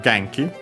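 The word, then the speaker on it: 元気: Then we have Genki. Another Chinese compound, but this one accent on the first syllable.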